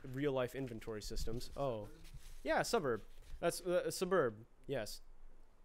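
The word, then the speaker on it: Sburb: It's called Suburb, like suburb. It's Suburb, S apostrophe burb, S-burb.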